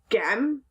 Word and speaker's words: gem: So if you're reading this and you said gem, that doesn't sound right. Try J instead.